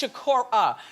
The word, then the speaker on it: Shakur: First of all, I think that's the first time since I've been doing the show that somebody corrected me about pronouncing their name wrong, which I do a lot, as you all know, because you watch. It's Shakur.